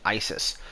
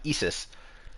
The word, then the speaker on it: Isis: so for one thing isis is her greek name uh isis is how the name was adopted into greek and then that's how it spread through the roman empire as the cult of isis uh obviously not pronounced isis as the english pronunciation